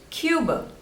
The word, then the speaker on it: Cuba: Croatia this one is Cuba Cuba two syllables and stress is on the first one Cuba Cuba Cuba next